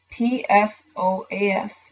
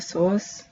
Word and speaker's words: psoas: That is the PSOAS, major muscle. The psoas, or the P is silent, I'm not sure.